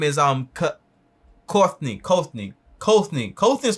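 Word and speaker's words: Kothney: It sounds like Courtney, but it's not Courtney. It's Kothny. So I don't know.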